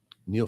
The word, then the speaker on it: Niall: the news coming out of China is how Niall Ferguson actually, the fellow you interviewed Oh, I know. Niall. in Davos uh has a great article Niall's Niall.